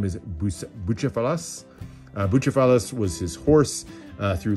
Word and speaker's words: Bucephalus: I'm probably going to butcher the pronunciation, but I believe the name is Bucephalus.